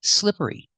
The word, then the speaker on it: slippery: practice with slippery pronunciation use the short I sound for the first syllable I like this is slip slippery slippery make the r sound SLI slipper slippery and continue with the long e sound at the end